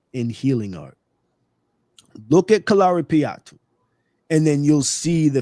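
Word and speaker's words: Kalaripayattu: Kalari patu k a right me say that again and then spell it.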